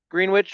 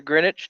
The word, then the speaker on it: Greenwich: been down um gr greenwich or greenwich depending on where you're from road lately have you ever said greenwich to you you almost just punch them in their face yeah i've heard people pronounce it with the w well they don't i